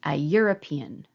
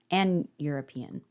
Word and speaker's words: European: you in an hour it's a letter e but when I pronounce this word again European that's a consonant phone so I would say a European like a European Vacation